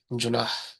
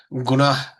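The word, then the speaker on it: جناح: শব্দ এটা খুব কাছাকাছি জুনাহ মিশর বা এ ধরনের এলাকায় ওদের তারা জুনাহকে গুনাহ উচ্চারণ করে আরবরা জিম জিমকে গাফ বলে অনেক সময় যেমন জামালকে বলে ওরা গামাল গামাল তো জুনাহ কে গুনাহ বলে জুনাহ শব্দের অর্থ হল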